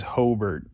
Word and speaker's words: Hobart: It is Hobart, like B-E-R-T. If you say Hobart down here, no one will bat an eye. Of course, if you say Hobart by this point, hardly anybody bats an eye.